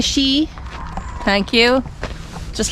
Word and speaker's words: Sidhe: Amidst the mushroom meadow where the Sidhe (pronounced Shee) thank you!